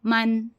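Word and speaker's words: مً: ठीक है, इसको लंबा नहीं करना, मन ऐसे नहीं पढ़ना, मन मन।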